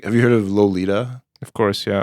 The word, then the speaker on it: Lolita: including Lolita which became or I guess actually pronounced Lolita according to him uh and you know